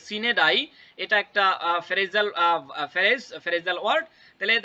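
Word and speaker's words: sine die: এবার নিচেরটা the school was dash for সিন্স ডাই। তাহলে দেখেন দ্য স্কুল ওয়াজ, তার মানে কি স্কুল কি হয়েছে, বন্ধ হয়েছে। হ্যাঁ, সিন্স এখানে দেখেন, ও সরি দুঃখিত, এটার উচ্চারণ হচ্ছে গিয়ে সিনেডাই।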